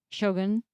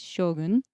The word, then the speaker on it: Shōgun: Islander languages oh okay a long sound but um it's makes it I think a lot easier to pronounce from a western perspective as opposed to Shogun it's Shogun m so that's why you see the the macron over so I'm glad that they